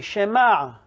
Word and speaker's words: Shema: say it i'm going to repeat after me shema you say it sounds like either with hey